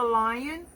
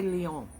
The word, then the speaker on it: Lyon: How are you, Lyon? I always want to say Leon. I don't know why, when it's spelled like that.